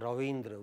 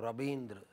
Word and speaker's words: Rabindra: Yeah, r and w, you say garv, but many people, in my part of the country, we don't pronounce w. Bengal, Bihar, Orissa, Assam, Nepal, Bangladesh, Banaras area, we pronounce it as garb. So we don't have Ravindra, we have Rabindra.